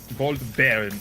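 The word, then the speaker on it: Goldbären: Gold Baron. It's like Baron. Baron mind. Okay, cool. Yes, it's like bear. Just bear.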